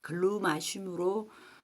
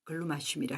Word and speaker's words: glumaceum: 치는 글루마 childr 있니다 아 이게 외국어 발음이다 보니까 글루 마심으로 유통되기도 하고 글루 맛의 우미로 유통되기도 하더라고요 한 두 개 정도로 우리나라에서는 통 유통되고 있는 거 같아요 저는 그냥 글루 마슘이라 할게요 이게 지금 꽃이 한창